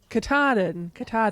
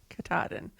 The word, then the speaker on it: Katahdin: Maine are going to probably tell me I'm mispronouncing this, but it's Katahdin? Mount Katahdin? I don't know. Katahdin. Thank you. Katahdin.